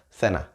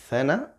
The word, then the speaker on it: cena: Here, again, it depends on the accent you want. But it's either cena or cena. Cena. Cena, as I said, more kind of Central and South America. And cena, with your tongue in between your teeth, it would always be from more Spain, right?